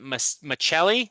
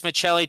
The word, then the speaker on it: Maccelli: Utah Mammoth trading Matthias, is it Maccelli? Yeah, is it pronounced the Italian way? Okay. Left winger Matthias Maccelli to the Maple Leafs in exchange for a 2027 third round pick.